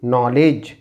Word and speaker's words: knowledge: इट is knock knock and the same way के silent so it will be नॉलेज नॉलेज when जी इ silent